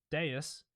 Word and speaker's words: Devs: devs the V in Latin which is actually pronounced as au Deus first of all we have Deus now which